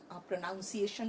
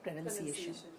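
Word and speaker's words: pronunciation: word तो यही है प्रोनाउंस एशन लोग बोल देते हैं जबकि वो है प्रोनंसिएशन उसके बाद एक वर्ड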